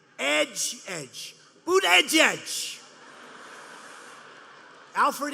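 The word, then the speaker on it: Buttigieg: touch and they said here's what you do boot edge inch say edge like the edge of a building edge edge Buddha judge Alfred e Newman you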